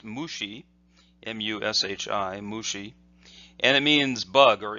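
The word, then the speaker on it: 虫: that this character is pronounced by itself is pronounced mu XI mu Shi mushi Anna means bug or insect and so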